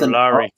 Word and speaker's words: Ojulari: Oh, that's Ojulari.